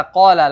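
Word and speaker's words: قال: kata qala lagi ya perhatikan huruf qf Ya seperti tadi sebelumnya seperti sebelumnya huruf qf makhrajnya ada di pangkal tenggorokan dibacanya harus dengan menebalkan yaitu dengan cara diangkat lidahnya qala dan tanpa hams dan di sini ada Mad thi'i lagi dibaca dengan dua harakat huruf qnya qala ya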